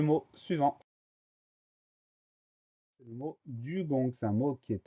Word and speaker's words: dugong: Première syllabe du, D-U. Ensuite, la fin du mot, c'est gong. On va l'écrire G-O-N-G. On a deux fois le son G, du gong.